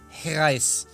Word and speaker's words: reais: Real? No, it's reais.